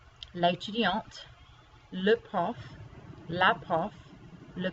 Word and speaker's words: l'étudiante: And this one, because it does not have an E on the end, you don't pronounce that T. But here, because you add the E to make it feminine, you do have to pronounce the T.